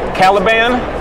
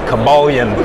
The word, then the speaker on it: Caliban: Even though I would mispronounce shit, like I would call Chris Claremont. Yeah. Like Caliban. For years, that motherfucker was Cabalion.